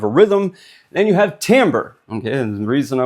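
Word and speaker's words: timbre: But very few of us even know that this is pronounced tambber.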